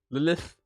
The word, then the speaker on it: Lilith: Lolith. Lilith. That's how you have to say her name, Connie.